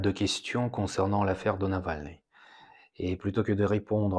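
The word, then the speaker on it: Навальный: Mettons-nous d'accord dès le début que j'ai vraiment du mal à prononcer le mot Navalny à la française Navalny. Donc je vais continuer à l'appeler Navalny à la russe et j'espère que votre compréhension n'en sera pas biaisée.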